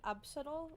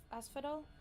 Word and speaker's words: Asphodel: Arena on the fields of Absadol, I think is the pronunciation. Now we're getting somewhere. Asphodel.